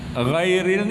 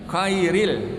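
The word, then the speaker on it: غير: Nah, ghairil ini bacanya kairil. Nah, ditukar lagi. Kan ada yang dengar itu kairil. Nah, orang baca ghairil dibaca kairil.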